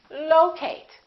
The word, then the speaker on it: locate: at the next one is it locate or locate it's the first one again it's locate locate be careful you probably a lot of people say locate because they're thinking of the word location as sometimes when we